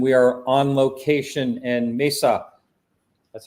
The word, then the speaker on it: Mesa: martin willis and we are on location in mesa that's how you say it right yes you're